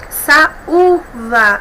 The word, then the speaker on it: saúva: Saúva, a mesma coisa. Nós temos um hiato, a sílaba tônica é U, o U é tônico aí, então ele recebe o acento gráfico porque ele não é seguido do dígrafo NH, tá bom?